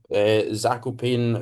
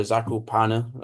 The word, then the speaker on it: Zakopane: It was Kov, Zakopane or Zakopana, I think is like the actual pronunciation, but I'm going to call it Zakopane.